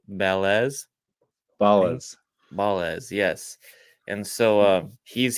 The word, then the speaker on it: Balazs: Balazs.